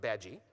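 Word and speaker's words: Badguy: Mr badgi B a d gu y it's pronounced badgi as we all learned from the Muppet movie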